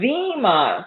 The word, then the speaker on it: Zima: a six pack of is it Zima or how is that pronounced Zima so it's an eye for an e right sorry about that pronunciation from